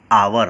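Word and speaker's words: hour: है जैसे-जैसे एक पैन आवर कि आवर में एक साइलेंट है इसका स्टार्टिंग साउंड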